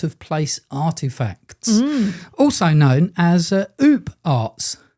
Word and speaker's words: OOPArt: Uh they said they would like us to speak all about out ofplace artifacts, also known as oop arts. Oops. Not oops. No, not oops. Oop art.